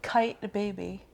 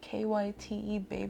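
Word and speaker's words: Kyte Baby: brand I think what does it rhyme with kite baby kite baby kite baby kyt baby that's really expensive yeah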